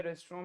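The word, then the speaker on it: restaurant: ओह, रेस्टोरेंट, नहीं, रेस्टोरेंट, आपको रेस्टोरेंट में खाना नहीं खाना चाहिए। रेस्टोरेंट, रेस्टोरेंट, आर-ई-एस-टी-ए-यू-आर-ए-एन-टी, यह अंग्रेजी वर्तनी है, बिल्कुल अंग्रेजी जैसी, लेकिन हम रेस्टोरेंट पर रुक जाते हैं, हम 'टी' का उच्चारण नहीं करते हैं।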